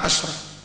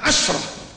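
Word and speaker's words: عشرة: Kalau dia mudhaf, itu membacanya pakai fathah. Asyaratu rijal, asyaratu kutub, asyarah. Kalau tidak mudhaf, boleh asyaratun, boleh asyratun. Kalau dia pasangan kalimat belasan, 11, 12 sampai 19, pastikan bacanya asyrah.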